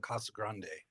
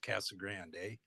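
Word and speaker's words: Casa Grande: Um, for those of you that don't know, she lives in Kasa Grande, which uh when I first moved to Arizona, I pronounced Cassag Grande.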